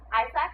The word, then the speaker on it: AIESEC: ISEC, which is spelled AIESEC, is the world's largest student-based organization.